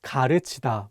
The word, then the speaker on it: 가르치다: One last example is the word 가르치다, meaning to teach. One more time, it's not pronounced 가르치다, but 가르치다. Again, this vowel 으 is much wider than the vowel 우.